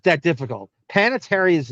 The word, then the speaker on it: Panettiere: Panitary is not difficult to say. It's panatier, by the way. That's the official pronunciation of it.